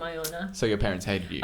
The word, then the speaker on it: Iona: prime target for bullies, the name Iona. So your parents hated you. And is also what- rhymes, also rhymes with Bona, Stoner.